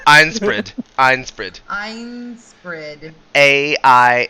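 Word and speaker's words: Ainsprid: i can say it like iron spread like it looks like it like einstein but it's with an a so it has that like nasally iron like it's it's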